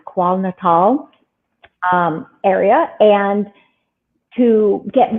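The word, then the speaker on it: KwaZulu-Natal: um which is in I think it's pronounced qual natal um area and to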